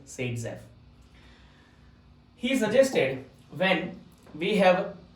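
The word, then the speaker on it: Saytzeff: Alexander ज़ेटसेव which is also known as Seytzeff or pronunciated as Seytzeff.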